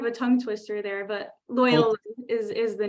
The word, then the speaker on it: Loyola: May I, a trick question, how do you pronounce the name of your university? It's a hard one. It's called Loyola. So it's kind of a tongue twister there, but Loyola is the name.